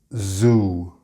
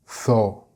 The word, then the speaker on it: zoo: For example, we say zoo, not tho. It's a completely different sound, and of course the vowel sound is also different.